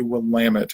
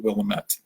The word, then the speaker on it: Willamette: the name of it but is it it will lam it not Willamette so we're looking to build that locomotive pull